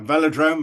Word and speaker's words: velodrome: to take a spin around the, am I pronouncing this correctly? Velodrome? A velodrome, it's an indoor cycling hall, yes.